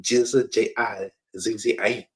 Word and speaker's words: GZA: The Genius became the GZA, pronounced G-I-Z-Z-A.